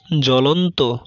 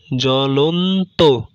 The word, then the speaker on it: জ্বলন্ত: পদের আদিতে অবস্থিত ব্যঞ্জনবর্ণে বফলা যুক্ত হলে বফলার কোনো উচ্চারণ হয় না, যেমন জ্বলন্ত, জ্বলন্ত, স্বাগত, স্বাগত ইত্যাদি।